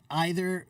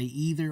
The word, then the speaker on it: either: Neither and either, they both have two pronunciations. You can say neither or neither. You can say either or either. Both are completely acceptable.